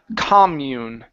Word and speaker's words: commune: And the last one here is the word commune. Okay, the stress is here at the very beginning.